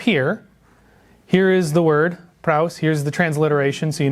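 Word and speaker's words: πραΰς: Here we are, praus. Here's a little easier way to help you pronounce it.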